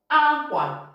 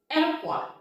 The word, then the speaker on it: akwa: Akwa. Nsụka says ekwa.